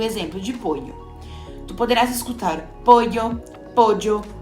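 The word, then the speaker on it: pollo: usando o exemplo de poho tu poderás escutar poo poo pojo ou poxo dependendo da região ou do país onde tu estiveres eu vou utilizar de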